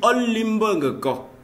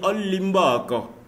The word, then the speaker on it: Olimbangeko: En fait, il peut avoir des prononciations, parfois certains mots peuvent être avalés. Donc, au lieu de dire Onendia, au lieu de dire Olimbangeko, on peut dire Olimbako. Donc, il y a cette liaison-là qu'on peut faire.